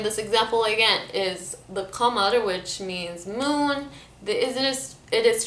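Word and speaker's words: قمر: a lot of Khaliji dialect and countries, it's pronounced as g sound. So I'll say this example again is the qamar, which means moon. It is transformed as gamar.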